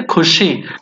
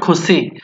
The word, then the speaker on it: Khushi: is cushy to yourself you have to say Khushi not cozy so Kushi will be